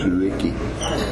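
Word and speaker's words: Tsuiki: It's spelled T-S-U-I-K-I, Suiki.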